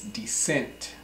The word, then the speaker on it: descent: form of that is descent DSC ents pronounced descent so say if you're